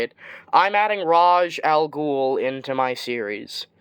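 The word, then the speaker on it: Ra's: Now, I know before people, yell at me in the comments, it's pronounced Erase. No, it's pronounced Raz. It really matters on who is making it and who decides to make it a different pronunciation.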